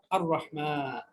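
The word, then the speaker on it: الرحمن: আর রহমান, আল্লামাল কোরআন, আর রহমান। তাহলে আর এখানেও লাম উচ্চারণ রহমান হয়নি, লাম উচ্চারণ হয়নি, তার মানে এই রটাও কি হরফে শামসিয়ার অন্তর্ভুক্ত।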